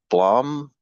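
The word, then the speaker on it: Blame!: Um, it's called Blom is how it's pronounced, but if you just search uh blame exclamation mark, you'll find it.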